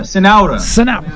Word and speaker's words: Cenoura: Folks, with us, we have Centura, and how do you pronounce this last name? Cenoura. Cenoura.